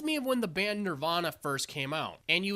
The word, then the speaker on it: nirvana: goddamn time but really the nerve veña veña it's technically nirvana you're vain there is one thing I find humorous from this segment it reminds me of when the band Nirvana first came out and